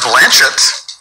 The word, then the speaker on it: Blanchett: I know it's pronounced Blanchett. Ooh. Oh. She said so on Ellen.